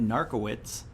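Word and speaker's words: Narkewicz: and the town's mayor his name is narco it's spelled different but narc right right which is like for narcolepsy narcotics oh yeah I think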